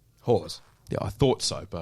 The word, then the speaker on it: Hawes: Because I didn't actually know how to pronounce Phil's last name. Hawes.